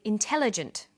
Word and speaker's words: intelligent: formal academic language but when you come across longer words you have to learn which syllable to stress for example we say intelligent increasing and markedly notice that when you